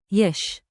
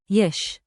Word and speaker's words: יש: יש. Like, yesh, one beat. Whisper it like a shop secret. יש.